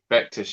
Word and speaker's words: Vectis: You pronounce it? Vectis, yeah.